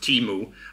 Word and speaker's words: Temu: So Temu, as it's pronounced, Temu, was founded in Boston, United States, which I didn't know.